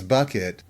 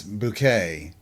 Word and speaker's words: Bucket: Her last name was Bucket, but she insisted that it was Bouquet.